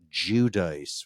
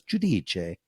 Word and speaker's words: Giudice: Now, in the New York, New Jersey metro area Italian, Teresa does pronounce that Judice, which I just feel is not as attractive as Giudice.